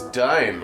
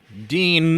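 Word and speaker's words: Dyne: The only one against this is Dine. For clarity, Dine is a guy. Yeah, and he's the only guy who thinks this is a bad idea. Right, it's spelled D-Y-N-E. Dean.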